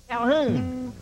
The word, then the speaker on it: Calhoun: His name is Calhoun. Remember that, because rhymes with Ballaboom.